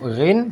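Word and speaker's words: غ: Huruf ghain cara bacanya sama, diletaknya di ujung kerongkongan, ghariru. Kalau huruf kha seperti ada kerokan, kalau huruf ghain yaitu seperti ada getaran, ghariru.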